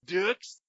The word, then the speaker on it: Dux: jean-claude Van Damme yeah if you watch bloodsport his name is spelled the same way and they called Frank Dux dukes well Dukes but he's like Oh Frank books